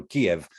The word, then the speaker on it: Kiev: Ukrainian language, you know, Kiev is the Russian pronunciation, Kyiv is the Ukrainian pronunciation, but Kyiv was founded in the year 482.